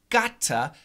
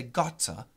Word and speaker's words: gotta: link the T gotta in the UK British people might say gotcha gotcha but in America we use a flap T and we say gotta gotta gotta okay so it's like a deep gotta gotta gotta another example